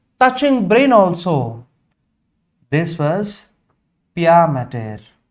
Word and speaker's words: pia mater: This was pia mater. Observe the spelling, it's not matter, it's mater. Mater means mother, maternal, paternal. That was the spelling, not matter, pia mater, dura mater.